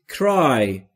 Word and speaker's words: cry: در مورد تلفظ cry دوستان دقت داشته باشید نگفتم cry. Cry بین C و R صدایی وجود نداره. ما هم صدایی اضافه نمی کنیم.